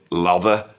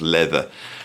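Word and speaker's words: Läther: So, we have this album, which is looks like it's called Lather, but it's actually pronounced Leather, and it brings all this stuff together.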